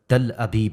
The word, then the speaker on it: تل ابیب: ہیں۔ عربی زبان کے اس لفظ کا صحیح تلفظ تل ابیب ہے اور اس کا مطلب